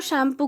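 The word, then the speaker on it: Tsangpo: और वहाँ पे इसको शैम्पू कहा जाता है, ठीक है। यहाँ पे टी साइलेंट रहता है, इसको शैम्पू कहते हैं।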